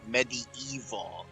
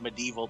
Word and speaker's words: MediEvil: For you at home, it's MediEvil. It's not Medieval Total War, just so you know. That's a good point, and I always struggle with the name of this game because it's spelled Medieval, all one word.